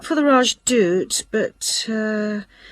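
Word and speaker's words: Rajdoot: in weatherfield is supposed to be excellent the raj dude oh how do you spell that r a j d o o t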